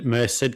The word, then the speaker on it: Merced: in Merced, California, which you now know is correct pronunciation.